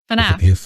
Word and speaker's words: FNAF: FNAF.